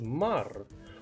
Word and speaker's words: Maher: Yes, sir, Maher is my last name and it's pronounced Mar.